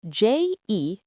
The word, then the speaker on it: je: It's spelled j e and pronounced je.